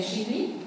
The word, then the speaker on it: Xitli: Bueno, en realidad su pronunciación del náhuatl sería Xitli, pero pues ya el hacer que suene como más español sería Xitli, sí, castellanización sería Xitli.